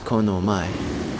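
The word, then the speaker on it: この前: And before this, which is konomai.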